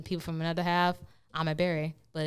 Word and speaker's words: Ebere: bear that's that's our foolishness like we are mispronouncing my name my name is a berry so and again I own my true for